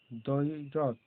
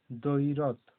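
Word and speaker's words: দ্বৈরথ: আর এখানে দয়ে বয়ে দয়ে বয়ে ঐকার র থ, দৈরথ, দৈরথ। এখানেও কিন্তু বয়ের উচ্চারণ হচ্ছে না, দটা জোর দিয়ে বলা হচ্ছে দৈরথ।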